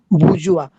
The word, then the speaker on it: bourgeois: where in the that is where in the bourgeois, that Can you spelling is just I'm uttering bourgeois, or also we may that plural is bourgeoisie, bourgeoisie, bourgeois.